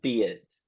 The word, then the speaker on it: beard: going to be uh beard beard so the r disappears but the sound is